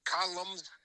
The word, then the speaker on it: columns: Do you remember reading Ann Landers' columns? How do you say that anyway? It's spelled funny. Columns.